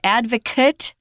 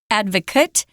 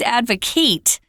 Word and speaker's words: advocate: It's pronounced advocate. Advocate. And if it's a verb, it's advocate.